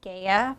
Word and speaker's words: Gaea: and begin with your first name last name spell it out along with your title okay my name is Gaia g-a-e-a-p-o-w-e-l-l and I'm a Consulting executive director Gaya thank you so much for joining me today